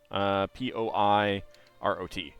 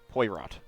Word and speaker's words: Poirot: So the character's name is spelled Poi, P-O-I-R-O-T. Poirot. It's pronounced Poirot.